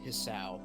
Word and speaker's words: Hisao: There's no voice acting this, so everyone says it's Hisao. Oh, dude, like I butchered an anime name earlier, so you're fine.